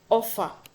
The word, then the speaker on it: offer: on the last syllable offer the stress is on F okay Enter the stress